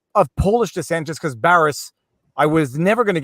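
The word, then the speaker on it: Barış: It's Baris is how you say it, and it means peace.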